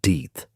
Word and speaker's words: Death: William Death, his surname pronounced Deeth, was a young man she had briefly dated before he had married another woman a few weeks earlier.